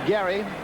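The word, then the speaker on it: Gery: He spells it G E R Y and pronounces it Gary.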